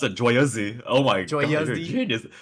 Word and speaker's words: Joyeuse: So okay, so the name of this weapon is not joyous. It's like in French they pronounce it as joyeuse. So it's kind of like JWAYUHZ.